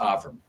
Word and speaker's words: Avrum: My name is pronounced Aram.